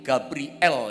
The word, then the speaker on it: Gabriel: itu kepadanya Akulah Gabriel Gabriel sebetulnya bacanya l-nya Elohim Gabriel gitu ya sebetulnya penulisannya betul dipisah gitu ya gabri l l-nya Elohim